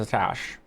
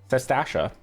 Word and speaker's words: Sastasha: before you blunder into Satash. Or, wow, I'm pronouncing that wrong. It's Sastash. Sastasha.